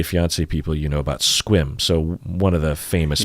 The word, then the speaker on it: Sequim: you 90 Day Fiance people you know about squim so one of the famous people in that fiance was from squim really yeah wow and uh of course it's